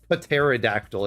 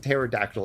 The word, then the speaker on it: pterodactyl: I' like um actually it's not pterodactyl. It's just pterodactyl. It's a silent P.